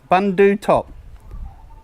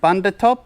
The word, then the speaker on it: Bundu Top: the U and book so it should be bandutop bundu top I was saying Bunda top or something or Bundy top it should be bundu top I think that's how you pronounce it so all along